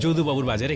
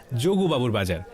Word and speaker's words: যদুবাবুর বাজার: একদিন আমি ভবানীপুরের যদুবাবুর বাজারে গেলাম, সঙ্গে ছিল কুহু। আচ্ছা দাদা, এই বাজারটা যোগু বাজার তাই না? যদুবাবুর বাজার, উচ্চারণের দোষে অনেকেই একে বলেন যোগুবাবুর বাজার।